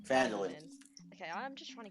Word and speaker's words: Phandalin: I can never pronounce the name of the city. Sorry. Phandalin. Phandalin.